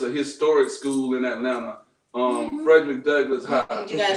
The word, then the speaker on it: Frederick Douglass: Bonte, you went to a school that's a historic school in Atlanta, Frederick Douglass High.